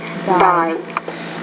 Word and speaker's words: thy: One, tie, thy. You're not getting that one. You're saying tie, but it's thigh, thy.